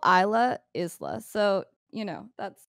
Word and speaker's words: Isla: of in the uk i think he's making the s silent in the same way that island the s is silent i mean isla it's isla it's isla i found